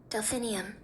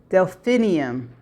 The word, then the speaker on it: Delphinium: The flower is spel pronounced like this. Delphinium. Delphinium.